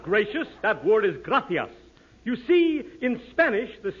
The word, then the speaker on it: gracias: simple Spanish phrase read it please okay muchas gracious Amigo no no no not gracious that word is gracias you see in Spanish the sea is pronounced